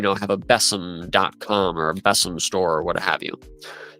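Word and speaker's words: besom: in a specific application so like beome or bessam actually I think is how it's pronounced U Mark Ward mentioned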